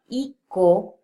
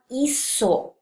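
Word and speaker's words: hizo: So if we were to spell it as H-I-C-O, that would actually be pronounced as ico. And we don't want ico, we want iso, which is why it has to undergo another change with a Z so that we can keep the pronunciation.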